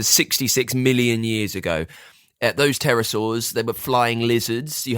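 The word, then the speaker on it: pterosaurs: We're talking about the terasaurs. Terror, but it's got a silent P at the start.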